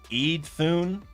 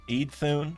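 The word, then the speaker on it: Iðunn: immortality, me and apples pronounced Edith Eidun. Eidun. I'm glad you're saying that cuz I literally literally had no idea. Uh, Ethun. Older versions of paninduropean immortality/lifegranting goddesses can be pronounced as imun. Okay, so I see what you're saying. It's close to emu.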